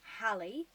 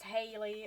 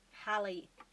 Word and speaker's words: Hallie: Her name, just so we're clear, is pronounced Hallie. Think of the actress Halle Bailey. That's how you pronounce her name. Oops. I don't want to see anyone pronouncing it as Haley or Hal or anything like that. It's Hallie. Okay?